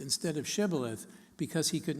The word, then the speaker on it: Shibboleth: to distinguish Ephraim Ides whose dialect lacked the phoneme such as in shoe from gileadites whose dialect did include such a phoneme so if anyone said Sibyl a--the instead of Shibboleth because he could not